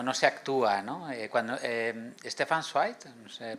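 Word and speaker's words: Stefan Zweig: Cuando Stepan Swi, se pronuncia así, tiene un libro que se llama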